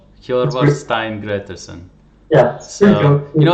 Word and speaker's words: Hjörvar Steinn Grétarsson: please say your name I'm so bad at pronouncing names killer Stein great dissing yeah you know it's one of those things